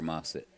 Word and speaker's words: Massett: That's an A. Been saying it wrong this whole time. Paxton and Parker. Mossett and Massett. Is that what I'm reading? All right. One's got an A and one's got an O.